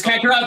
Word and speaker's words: Kakarot: Is it Kakarot or Carrot? I mean, it is Kakarot, but it is also Carrot. It's based on carrot. Yeah, Toriyama took the word carrot, karoto, and turned karoto into kakaroto.